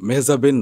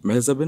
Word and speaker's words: মেহজাবিন: তুমি কিন্তু একবার আমাকে বলেছিলে যে তোমার নাম মেহজাবিন না। দর্শকরা শুনে কিন্তু এখন অবাক হবে যে মেহজাবিনের নাম মেহজাবিন না।